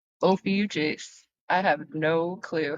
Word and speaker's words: Ophiuchus: So, you know how I'm going to remember that? I'm going to think of mucus. Like, when you have to blow your nose.